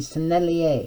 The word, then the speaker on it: Sennelier: using some really high quality ones schmincke and sennelier is how you say that these are top